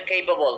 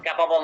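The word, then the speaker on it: capable: এ বি এল ই এটার উচ্চারণ হচ্ছে কেপাবল ক্যাপাবল না কেপাবল এটার সাথে কোন প্রিপজিশন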